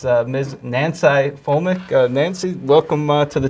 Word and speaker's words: Nanci: first saw your name, I thought it was Nancy, but right. it's actually spelled N-A-N-C-I, and it's pronounced Nanci. Well, all my friends call me Nanci, so technically it was Nancy, but then you always got to say Nancy with an I, Nancy with an I.